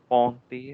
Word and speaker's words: Charpentier: Charpentier. Okay, so you have EN, the sound of okay? You have the sound of like we did yesterday. This is, On. try again, try again. Pontier, Charpentier. No, Charpentier.